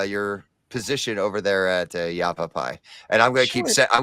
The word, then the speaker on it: Yavapai: have first off Robin Bryce from Yavapai College and Ryan can could be happy with me because I said that right uh how you doing